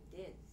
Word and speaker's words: Diz: Diz. As in Dizzy? Rhyme with Lizzie, as in tin.